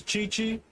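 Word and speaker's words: Gyekye: I think I was told before the pronunciation is Chichi.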